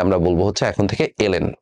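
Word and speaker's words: ln: সো অনেক সময় টিচাররা আমাদের পড়াইতে পড়াইতে এটারে লন বলে, বাট এটা লন বলাটা আসলে উচিত না। ঠিক আছে, টিচার যদি আপনার লন বলেও আপনি এটারে দয়া করে নিজে বলার সময় এলএন হিসাবে উচ্চারণ করবেন।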